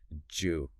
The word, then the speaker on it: do you: Actually, the source notes that do you very frequently reduces and links together to sound almost like Jew or maybe Jew.